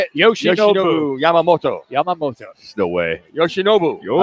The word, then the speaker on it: Yoshinobu Yamamoto: Yoshinobu Yamamoto.